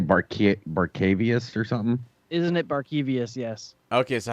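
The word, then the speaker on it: Barkevious: Isn't it break vicious? How do you say that? It's spelt wrong. Isn't it supposed to say Barcavius or something? Isn't it Barkevius?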